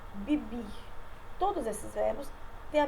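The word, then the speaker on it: vivir: Bibir, que é o verbo viver, se pronuncia bibir.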